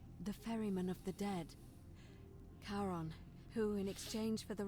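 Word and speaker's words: Charon: As in Karon, the fairyman of the dead. Karon, who in exchange for the right coin, helps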